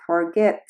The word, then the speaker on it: forget: Por ejemplo, el verbo forget tiene 2 sílabas y la última sílaba es acentuada, es decir, al pronunciarlo suena más fuerte.